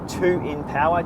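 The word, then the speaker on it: 2INpower: Okay, this week DCRainmaker put out his in-depth review of the twin power from Rota, 2 in power twin. That's how it's pronounced.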